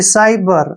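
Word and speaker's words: cyber: है साइकिल अब देखिए साइबर साइबर में सी के बाद फिर से वाई आया है इसलिए हमने सी को स पढ़ा है साइबर ठीक है ना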